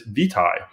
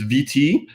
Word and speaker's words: vitae: the facility and said, actually, in North America, it's vitae. It's VT in the UK. In Britain, they would say aqua vitae. In North America, our pronunciation of that Latin word is vitae.